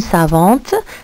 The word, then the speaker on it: savant: Une savante, ça s'écrit avec un TE. Un savant, alors à la fin, c'est T.